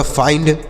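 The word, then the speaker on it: find: बाद एन डी है तो आई का उच्चारण आई होगा और एन इ एन से नो डी से ड तो यह होगा फाइंड एफ आई एन डी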